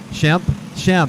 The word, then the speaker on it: Shemp: Tom Skemp up there. Shemp. He told me Shemp. I'm going to say it right. Shemp. I know, Shemp.